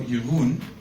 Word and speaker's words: Jeroen: that friend he said oh yahoon because that's how you pronounce my name um maybe maybe you're